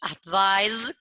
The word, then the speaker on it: advise: Advice con C es consejo y advise con S, pero que se pronuncia con Z, ese sonido, okay?